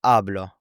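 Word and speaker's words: habló: And then hablo shows that stress with the tilde, and you can see how the stress and the accent is on the ending. And hablo means I speak or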